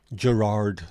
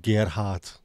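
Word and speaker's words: Gerhardt: getting annoyed very annoyed Gerard instead of Gart a German name g r h a r DT I think he pronounced this or sorry spelled this Gart not Gerard EG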